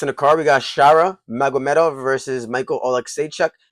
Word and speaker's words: Shara: I just think he looks a lot like him, and his name even rhymes with Shara Gaara.